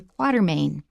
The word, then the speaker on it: Quatermain: In any case, his name is pronounced Alan Quatermain.